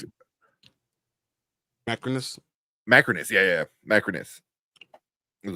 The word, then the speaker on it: Macrinus: There's Marcus, which is Pedro's character, but then Marcinius, I think it was Denzel's character. Or how do you pronounce it? Macrinus? Macrinus, yeah.